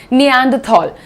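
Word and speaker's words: Neanderthal: next देखते हैं अच्छा, ये एक वर्ड है, इसका मैंने प्रोनाउंसिएशन लिखा है या नहीं, हाँ जी, निएंडरथॉल, जिसका एक छोटा सा मैं तुम्हें होमवर्क दे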